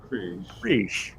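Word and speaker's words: Krige: Like, Okay. like cream frige. Kriege.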